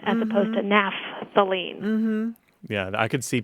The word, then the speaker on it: naphthalene: you pronounce that because sometimes people just abbreviate the pH as a p so they would say napthalene as opposed to naphthalene mhm yeah I could